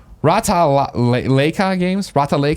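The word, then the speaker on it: Ratalaika: How do I pronounce this? Rata-Leica Games. Is that how you would say it? Yeah, Rata-Leica.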